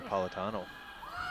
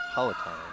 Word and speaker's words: Palatine: one cross over the politano over Palatine excuse me don't need to add any extra syllables looks like camerina has